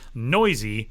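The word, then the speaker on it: Neuse: Jorge Matteo and Sheldon Noisy, which by the way, if you've looked at Sheldon's last name and wondered how do you say that? Noisy.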